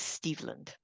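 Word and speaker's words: Stevland: and I should say the pronunciation of the name is steveland steveland and that was a question for a while but because he's named after Stevie Wonder whose real name is Stevie um and so how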